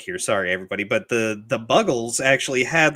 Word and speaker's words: Buggles: Probably remember when they played Video Killed the Radio Star by the Buggles, who I thought for the longest time were the Bugles. They are not. They're the Buggles. Really?